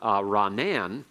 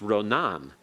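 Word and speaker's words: רָנַן: And that's because the form Ranan among the modern Hebrews is usually pronounced Ronan.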